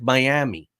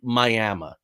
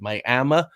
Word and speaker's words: Miami: So this looks like Miami, but it's actually Miami is how it's pronounced. Miami, Oklahoma.